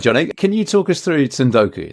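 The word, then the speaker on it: 積ん読: Can you talk us through Tundoku then? Is that pronounced right for first of all, do you know what? I I'm not a native Japanese speaker, so so I'm I'm probably with you on this, but yeah, Sundoku is is how I would pronounce it.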